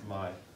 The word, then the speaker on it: Khmer: Yeah, we say Khmer because we don't know, but apparently it's pronounced Khmer. So, the Khmer Empire, as well as the Champa Empire.